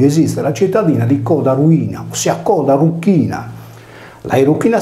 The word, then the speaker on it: Erycina: romani vene denominata anche Venere Ruina pronunciato in sardo e Ruina letteralmente Venere della Croce